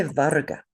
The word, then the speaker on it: varga: Say varga.